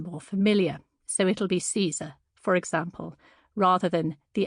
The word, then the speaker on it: Caesar: As we get further into the book, though, I'll also sometimes use standard English and Italian pronunciations of Latin in contexts where those are more familiar, so it'll be Caesar, for example, rather than the ancient Kaiser.